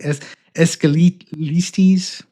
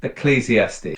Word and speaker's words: Ecclesiastes: This story uh this this book of the Bible is it E escalistes? Absolutely. The book is pronounced Ecclesiastes.